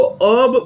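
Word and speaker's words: herb: इसको बहुत लोग प्रॉपर इंग्लिश में इसको अर्ब प्रोनाउंस करते हैं, यानी कि एच जो है वो साइलेंट है। जैसे ऑनेस्ट का एच साइलेंट होता है ना, अपन हॉनेस्ट नहीं बोलते, अपन क्या बोलते हैं? ऑनेस्ट बोलते हैं। वैसे ही हर्ब में बहुत लोग अर्ब बोलते हैं।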